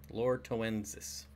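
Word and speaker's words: loretoensis: keep it's the Lord to ends this which is spelled exactly like it sounds lor e tow t OE and s is Lorca winces ah dang you in a bad mood today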